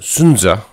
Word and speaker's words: Sun Tzu: the art of war sun tzu is actually pronounced sunza and it means scholar son in ancient chinese